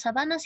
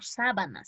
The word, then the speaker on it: sabanas: Las sabanas y las praderas son biomas semejantes, se parecen mucho. Aquí no se pronuncia como sábanas, se pronuncia como sabanas.